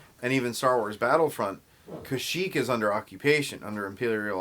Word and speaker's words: Kashyyyk: even Star Wars Battlefront, Kashyyyk is under occupation, under Imperial occupation. In the holiday special, they call Kashyyyk Kazook. No joke. Kazook. Original. That's the original pronunciation.